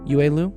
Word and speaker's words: Yue Lu: Which, okay, somebody said, am I pronouncing it right? Is it Yue? Yue Lu? Yeah.